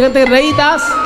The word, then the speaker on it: রৈদাস: বাবা তাকে বাঙালিরা বলে রুইদা দাস কিন্তু হিন্দি উচ্চারণে রুইদাস নয় হিন্দি উচ্চারণে রইদাস র হই আসলে সেটা হবে রবি রবি মানে সূর্য রবিদাস সূর্যদাস সেটা হিন্দি উচ্চারণে রবিদাস সে রদাস আর বাংলায় হয়ে গেছে রৈদাস মুচে ছিলেন কিন্তু